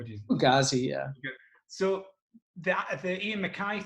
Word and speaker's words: Fugazi: I never know if I'm pronouncing it. Is it Fugazi or Fugazi? How do you? Fugazi, yeah.